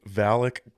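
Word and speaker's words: Valik: Do you want to say Valak Gut Ripper?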